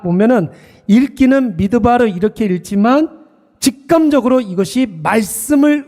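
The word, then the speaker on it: מדבר: 고백하고 있습니다 여러분 실제로 히브리 말로 광야라는 말은 이렇게 발음을 해요 미드바르 이렇게 발음을 합니다 미드바르 다바르 이렇게 발음을 하는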